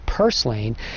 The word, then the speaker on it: purslane: The typical garden variety herb called parslane, or some people pronounce it purslane, is an excellent source of omega-3.